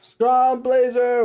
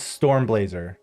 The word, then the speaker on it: Stormblazer: Strong Blazer, what's up? You know, I read his name wrong all the time. It's Stormblazer.